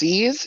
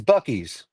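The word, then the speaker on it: Buc-ee's: Bucksies? Is that what it's called? It's Bucky's, but it's The one spelled with.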